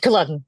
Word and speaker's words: Culloden: I'm not going to try to pronounce it. The Battle of Culloden. Culloden, Yes.